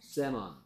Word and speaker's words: salmon: L이요? L이 소리가 안 나고 있지 않나요? 이게 Salmon이에요. Salmon이에요. Salmon이에요. 오가 가지 네 가지 소리 오오아어 중에서 어 그래서 다 합쳐서 세먼 세먼이었구나.